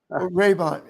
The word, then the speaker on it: Rabon: Raybon, Raybon. No, I don't think I know him. Phonetic. Okay. And then okay. So it's spelled Rabon. He's just spelling it out so we can say it correctly.